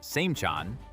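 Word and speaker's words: Seymchan: Siberia in places like Yakutsk, pronounced Yakutsk, Samchan, pronounced Samchan, and Kirensk, pronounced Kirensk.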